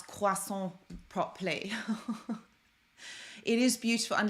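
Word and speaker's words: croissant: all out in in Paris Yang I did pronounce quason properly it is beautiful and the language is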